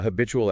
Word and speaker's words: habitual: Stress on bit. Habit. Ghoul. That two often becomes chew. A habitual action.